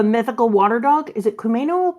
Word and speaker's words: Komainu: Is it Kumeno or Kumano? Yeah, I know how it's spelled. Lion dog. I don't. Komainu.